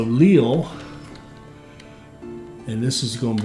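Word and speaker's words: Lille: will be it's Leo it's pronounced like l-e-e-l Leo so Leal and this is going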